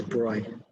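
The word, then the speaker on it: de Broglie: quantum mechanics was pioneered by french physicist louis de bruyne the pronunciation is bright okay so d broiler color derive the following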